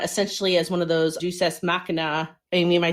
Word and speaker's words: Deus ex machina: as one of those Deus Ex Machina. Amy, am I saying that right, teacher Amy? Deus Ex Machina. I can never say that word. Deus Ex Machina. You don't want to say deuce.